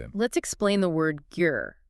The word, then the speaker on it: ger: Let's explain the word ger. It is spelled g e r and pronounced like gare.